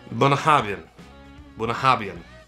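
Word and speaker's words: Bunnahabhain: They are from a Scotch whiskey I refuse to pronounce because I will butcher their name, and I absolutely love this Scotch, but I believe it is Bunahabhain.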